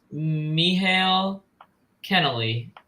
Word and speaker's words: Michael Kennelly: It's pronounced Michael Kennelly. He's Irish.